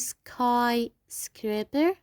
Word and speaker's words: skyscraper: Also here we have skyscraper. skyscraper. We will pronounce Y I.